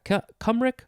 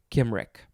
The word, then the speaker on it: Cymric: Yeah, Cumric or Kimric. It is spelled capital Cymric, or you can replace the C with a K, because obviously it is pronounced Kimric.